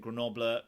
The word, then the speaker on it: Grenoble: Yes, we pronounce it Grenoble, Grenoble, Grenoble.